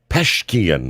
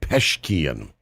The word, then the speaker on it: Pezeshkian: Peshkian, I believe is the way you pronounce his name. Masoud Peshkian.